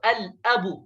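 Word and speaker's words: الأب: जैसे अलिफ है तो अल अबू, तो यहाँ पर देखिए अल भी, अ भी पढ़ा जा रहा है, लाम भी पढ़ा जा रहा है। अल अबू, तो यहाँ पर लाम साइलेंट नहीं रहेगा।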